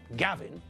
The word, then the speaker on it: Gavin: My name, Gavin, has got 2 syllables, ga and vin.